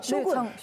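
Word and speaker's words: 将軍: 쇼군. 그렇죠. 그 장군을 한자로 장군을 일본식 발음으로 쇼군.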